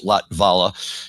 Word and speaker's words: Latvala: the series absolutely and thank you for correcting me on the pronunciation of his last name which is latvala just was always difficult to say because you got that t and V right next to each other without a vowel but uh and the